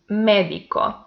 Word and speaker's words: médico: Médico. The antepenultimate syllable is the stressed one, and by that is esdrújula, so it has accent mark.